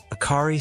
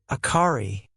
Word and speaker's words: Akari: "My name is Akari," she said, remembering Kamaji's warning and Haku's. She emphasized the ka syllable, clinging to it like a lifeline.